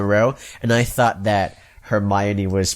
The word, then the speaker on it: Hermione: Until Goblet of Fire, I just read all the books in a row, and I thought that Hermione was pronounced Hermione for longer than I should have.